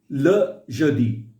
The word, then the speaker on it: le jeudi: एक तो ये ल है, ले नहीं है, ठीक है? Okay. फ्रेंच में जो ई है, जो इंग्लिश वाला ई है, उसका प्रोनाउंसिएशन वो अ है, Okay. ठीक है? That is very important to understand. ल जदी, Le jeudi.